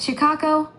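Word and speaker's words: Chikako: The first one is C-H-I, like chi energy. Chi, chi, chi, chi. The second syllable is ka, K-A. Chi, ka, ka, ka, ka. And the last syllable is ko, ko, ko. So it's chi, ka, ko. Got it. Chicago. 3 syllables. Chi, like the energy, ka, and ko.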